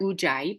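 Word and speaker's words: Ujjayi: a certain shape now moving on to our uai breath this is how you spell it it's weird I know but if you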